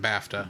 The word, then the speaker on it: BAFTA: B looks like baa baa yeah but they pronounce it bafta bafta okay uh international box office weekend with